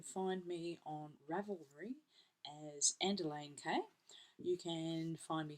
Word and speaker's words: Andelaine: So that's Andelaine, ANDELAINE. As somebody had just pronounced it last week as, how do they say Lane magazine? Liner? Underliner? I could underliner. There you go, Andelaine.